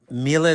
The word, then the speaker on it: Miele: It's the Miele, that's how we pronounce it here. I know the English pronunciation.